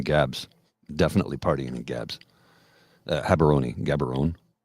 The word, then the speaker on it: Gaborone: Gaborone. Gabs. Everybody calls them Gabs. Gabs or Habs. But, yeah. Gaborone. You can pronounce it either way.